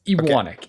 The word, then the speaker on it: Ewanek: Brandon, thanks so much for and did I get your Did I pronounce your last name right? Very close. Ianic.